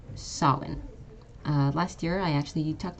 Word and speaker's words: Samhain: This one's actually a bit strange because this is, you might think this is pronounced Samhain. This is actually Samhain.